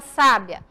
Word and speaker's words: sábia: olha só a diferença aonde vem a sílaba tônica na palavra sábia na primeira sílaba onde vem a sílaba tônica na palavra sabiá na última o som dela é